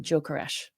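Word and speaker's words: Gyökeres: So, they're saying that the G is pronounced more like a DJ, like a J, and then the S is a sh. So, that's why I'm going with Joe Caresh.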